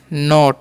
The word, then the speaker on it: not: NOT है तो इसे हम क्या पढ़ते हैं, नोट। क्या पढ़ते हैं जी, नोट। O का उच्चारण ओ करना है। जब भी 3 लेटर का वर्ड रहेगा बीच में अगर O आ गया तो उसका उच्चारण ओ कर देना।